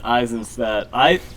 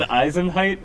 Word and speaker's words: Eisenstadt: I probably pronounced your name wrong. It's Eisenstadt. It's Eisenstadt. You said Eisenheit or something?